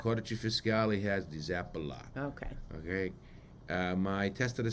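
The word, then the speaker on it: Zappalà: Emphasis on the last thing, Zappala.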